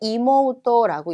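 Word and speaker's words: 妹: 얘는 읽을 때 이모토라고 읽습니다.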